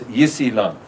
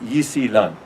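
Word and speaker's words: 伊斯兰: They will call it also Islam, which they pronounce Yisilan, which if you write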